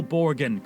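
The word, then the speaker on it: Borgen: the Supreme Court here is how to properly pronounce it from BBC News the real borgan Christian Borg Palace home of the Danish Parliament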